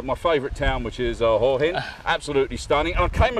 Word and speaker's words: Hua Hin: Is that the right pronunciation? I'm with Mel. Is that right, Mel? Yeah, no. Hua Hin. Hua Hin? Yeah, yes.